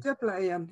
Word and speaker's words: Djöflaeyjan: Djöflaeyjan, yeah.